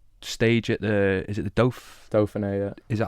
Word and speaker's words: Dauphiné: And did you won the stage at is it the Dauphiné, yeah. Is it how you pronounce it, Dauphiné?